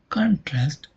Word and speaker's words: contrast: In the verb contrast, the dress falls on the second syllable, that is trast.